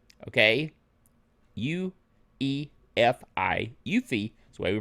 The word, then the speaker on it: UEFI: It adds Eufy, Okay? UEFI. UFI is the way we pronounce it.